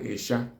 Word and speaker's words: Isha: Crayfish in Igbo, in Central Igbo or generally accepted Igbo language, is called Esha.